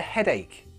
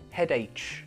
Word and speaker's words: headache: say I've got a headache headache the pronunciation mistake I hear with this is head h it's not that it's headache imagine it's like a k headache now not only your